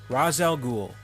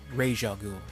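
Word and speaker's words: Ra's al Ghul: this one number 10 razel Ghoul from Batman Begins or Ral ghoul if you prefer when the biggest problem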